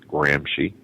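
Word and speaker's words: Gramsci: study you need to research the last name is spelled g r Ms C that's gry from Antonio gry came Saul Alinsky and of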